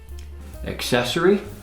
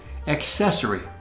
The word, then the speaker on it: accessory: Accessory, a small thing you wear with clothes to add style. Accessory. Sometimes mispronounced accessory, but it's accessory.